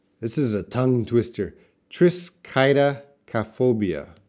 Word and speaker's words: triskaidekaphobia: is a tongue twister Tris Qaida calf obeah that's how you pronounce it Tris Qaida calf obeah